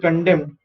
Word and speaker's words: condemned: today are commercial soluble condemned this is an interesting word of condemned so i am saying co d m is dem and directly i'm saying so n is silent over here okay n is silent